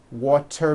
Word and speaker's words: water: And remember in the third session we talked about when a T falls between two vowels, turns into a D, like in the word water. Water becomes water.